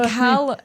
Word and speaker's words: Callum: She's Yeah, that's And then Callum, I think it's pronounced Callum. I think it's Callum. Yeah, it's definitely not Caleum. I think it is Callum.